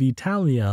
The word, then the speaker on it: Italia: and learned by them Virgil wanted the first syllable of Italia long not short as the Ancients pronounced it and he made it